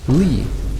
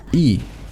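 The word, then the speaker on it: Ii: and mispronounced it as Lee when it's supposed to be E like the meme.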